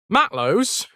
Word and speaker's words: matelot: Matlows, as I'm going to pronounce it because that's how I grew up hearing it, and I don't think I've ever seen it written down.